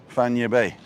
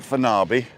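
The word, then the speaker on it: Playa Fañabé: So La Brasserie is on Playa Fanya Bay. And it's not Fanabi or Fanaby. Fanya Bay. Fanya Bay. Fanya Bay. Because it's got an accent on the E and a tilde on the N.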